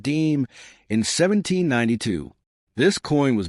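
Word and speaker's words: disme: The first official 5-cent coin issued by the United States was a half-dime, pronounced deem, in 1792.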